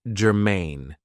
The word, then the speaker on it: germane: So, the first adjective I have for you is germane. Now, this is 2 syllables, and the stress is on the second syllable, germane.